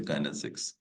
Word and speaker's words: kinesics: Don't say kinesics. It is pronounced as kinesics.